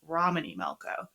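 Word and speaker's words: Romany Malco: Like, we're recording in two sessions, and I accidentally pronounced his name incorrectly last time, so it's Romany Melco.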